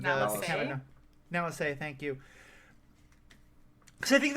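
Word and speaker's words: Nala Se: But so, and I will say I did like the little bit at the end of, God, I can never pronounce her name. Nalase, thank you.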